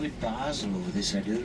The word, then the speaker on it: Basel: Baal is the French pronunciation and Basel the German. We tend to call it Basel over this side of the river, you see.